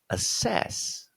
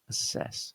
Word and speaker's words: assess: Yeah, because this has a double S, and they just that double S just sounds like a single S. Okay, so that would be pronounced assess. Yeah, assess. So we need to not